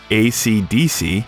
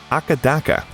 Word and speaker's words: AC/DC: It's also interesting that while in most countries of the world AC/DC is pronounced AC/DC, in their native Australia, they're called Akadaka.